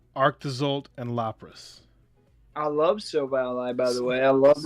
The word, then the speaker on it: Silvally: I love Silvally, by the way.